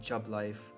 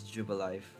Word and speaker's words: Jubilife: I've been calling it Jubilife. It's Jubilife.